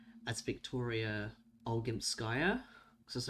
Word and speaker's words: Olgimpskaya: Because, like, it really, like, weirded me out in Pathologic 2 when Aglaya arrived and pronounced Victoria's name as Victoria Olgimpskaya.